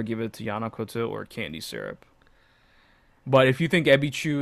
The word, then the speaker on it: Candye Syrup: It's Candye syrup, but you pronounce Yeah. it Candy Syrup.